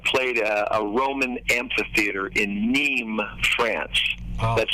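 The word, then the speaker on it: Nîmes: 30 years i've played a roman amphitheater in neem france that's spelled n-i-m-e-s and uh two two out of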